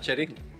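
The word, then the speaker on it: Cherín: Cherin. Cherin. Ah. Cherin. It rhymes with my name.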